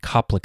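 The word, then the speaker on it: Koplik: kough Kiza conjunctivitis and Copic spots while the last one starts with a K it still has the hard C Sound therefore this is referred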